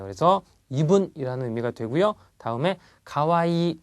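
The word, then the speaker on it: かわいい: 다음에 가와이. 자, 이 하지 않고요. 가와이를 길게 발음합니다. 가와이 이렇게요.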